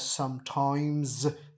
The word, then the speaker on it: sometimes: First word is sometimes, and it is pronounced as sometimes. Z की sound आएगी, लिखने में ये एस आ रहा है।